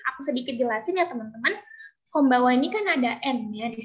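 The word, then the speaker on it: こんばんは: Konbanwa ini kan ada N-nya di sini. Nah, untuk N-nya sendiri dalam Jepang itu kita bacanya eng.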